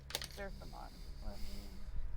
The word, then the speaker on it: Zerthimon: It's spelled like it sounds like how it's spelled, or it's spelled like how it sounds. Zerthimon.